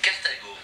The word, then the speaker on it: Carthago: Carthago.